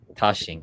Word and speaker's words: Daxing: And Jonas Raphael Daxing is Tashing. Okay, so Tashi. Dashing. Is it with a D or T?